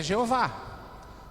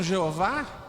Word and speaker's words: Jeová: E alguns que chamam Jeová o fizeram porque eles usavam a palavra Adonai e juntaram as vogais de Adonai ao tetragrama, e daí saiu o Jeová, tá certo?